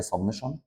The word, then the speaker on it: سمشن: العلامه دي معناها مجموع، الناس بتقراها سيجما وناس بتقراها سمشن، بس هو النطق الصح ليها سمشن، سيجما دي حاجه تانية